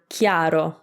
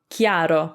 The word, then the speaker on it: chiaro: in italian anyway but its purpose is to just harden the c so you get key for example in the word chiaro chiaro which is clear and